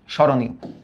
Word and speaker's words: স্মরণীয়: স্মরণীয়, আগে লেখো, নর্মালি লেখো, কারণ আদ্য ম ফলার উচ্চারণটা থাকে না।